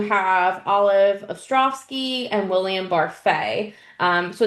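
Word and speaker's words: Barfée: Um then you also have Olive Ostrovski and William Barfay. Um so it's about the six of them but also Barfet you got to say it right.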